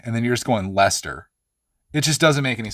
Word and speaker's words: Leicester: Yeah, Leicester is pronounced Leicester.